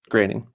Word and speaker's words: Groening: Is it John Groening? Groening.